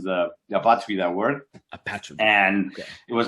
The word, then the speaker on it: Apatrida: Is Apatrida. Yeah, kind of. That's why we decided to name the album like this, because we know it's very, very difficult for non-Spanish people to pronounce the Apatrida word. Apatrida.